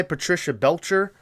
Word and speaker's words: Patricia Belcher: the phone and you know she's played by Patricia Belcher uh I believe that's how you pronounce her name um if you look her